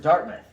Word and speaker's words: Dartmouth: ahead that's very close so we pronounce it dartmouth but yes it looks like dark mouths it says love guys